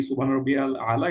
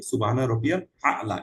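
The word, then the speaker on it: سبحان ربي الأعلى: Actually আপনার আমরা যারা পড়ি সুবহানা রাব্বিয়াল আলা একটু যেন আজকে এটার পরে কারেক্ট করে ফেলি। সুবহানা রবিয়াল আলা এটাই একচুয়াল উচ্চারণ।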